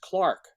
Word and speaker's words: clerk: Words like clerk are often pronounced Clark. It still slides toward the A.